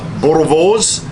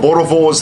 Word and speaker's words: Boerewors: do the old traditional bores and if you're wondering what a bore is I think I've got the pronunciation of that right you got to roll the tongue B and v b